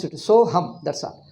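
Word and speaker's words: सोऽहम्: So hum, that's all. So hum, and don't try to put A there. So hum, that's all. A is not pronounced.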